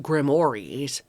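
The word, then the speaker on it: grimoires: Grimmoirs, which are pronounced grimores.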